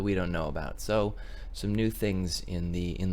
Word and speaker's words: Xu: with the sum app it is spelled Xu mmm I always called zoom but it is called some and I just wanted